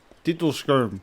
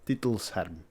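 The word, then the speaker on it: titelscherm: For those of you wondering, I said it back then as well, but the correct pronunciation is Titelsharm.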